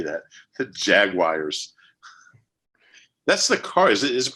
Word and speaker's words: Jaguars: Jaguar, which is the correct way to say it, but I just don't say it that way. Jaguar, like on the Jaguar. commercials. Yeah, it's like a 3-syllable thing, but yeah, they're not going to catch.